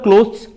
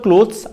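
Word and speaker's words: clothes: क्लॉथ पढ़वा कथा एवं सी एल ओ टी एच ई एस क्लोथ्स या को हमें क्लोथ्स प्रोनाउंस करवा कथा किंतु हमें उड़िया भाषा लोग के को कर क्लथस कह दो जो की हम प्रोनाउंसिएशन रे बहुत ब मिस्टेक ओके आप जो आप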